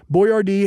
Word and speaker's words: Boyardee: Boyardee helped supply Allied troops rations during World War II.